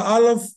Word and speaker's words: Aleph: Now, remember, Aleph is not a letter, but it's a glottal stop. So this is how you speak Aleph. Aleph. Can you hear that? Aleph. Can you see my mouth is opening without a sound? Aleph. Aleph. Aleph. Aleph. Aleph. Because it's a silent letter. It is guttural.